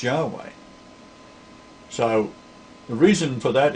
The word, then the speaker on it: Yahweh: The church testified the name was pronounced Yahweh.